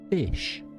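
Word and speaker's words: ghoti: So the GH from tough is a th, the O from women is an I, and the TI from nation is a sh. So it's pronounced fish.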